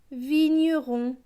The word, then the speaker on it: vigneron: V et I, vie. GN, GN c'est ñ. Avec le E, cela donne ñ. R avec ON, ON c'est on, donc R et on, rond. Donc ce mot va se lire vi, ñ, rond, vigneron. Le mot suivant, V et I, vie.